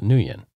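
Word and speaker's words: Nguyen: this is your real last name it's huan nuan so isn't it interesting that I knew how to pronounce that last name it's ngu ye n and it's pronounced nuan I've known some nuans yeah but the reason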